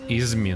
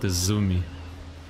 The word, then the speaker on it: Izumi: Interesting that this support is pronounced as Izmi, not Izumi.